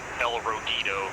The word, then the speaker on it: El Rujito: It's just El Rujito, but in Chinese. That's awesome. That's good. Livery, let's grab Chief. But it's, she says it's phonetically like El Rogito, like with a G.